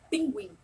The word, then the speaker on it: pinguim: Então vejam, pinguim, pinguim. Eu não estou sentindo o som do U na minha pronúncia, mas ele está ali, tá?